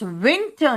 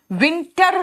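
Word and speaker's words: winter: मौसम है इट इज विंटर नाउ विंटर मत बोलना आर पर जोर मत देना मैंने क्या कहा लास्ट में अगर आर आता है तो वो सॉफ्ट हो जाता है अभी क्या है ऑटम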